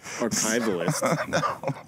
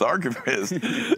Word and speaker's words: archivist: Is it archivist? I think I pronounced it wrong. I told you it was archivist. Archivalist. No, it's archivist and music consultant at Ace Records.